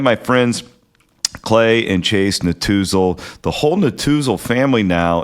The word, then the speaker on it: Netusil: They are the Natuzel family. That is spelled, if you want to Google it, Netusil.